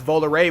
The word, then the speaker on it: Volare: I am always a stickler for pronunciation, and I want to be correct. So apparently that's Volare, which, yeah, everything, if you didn't realize, is